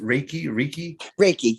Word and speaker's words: Reiki: And in fact, that's, if I'm not mistaken, isn't it's pronounced Reiki?